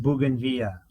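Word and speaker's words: bougainvillea: It's pronounced bugenvilla.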